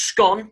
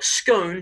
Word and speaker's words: scone: Okay, so either it's pronounced scone to rhyme with gone, okay, or scone to rhyme with tone, okay?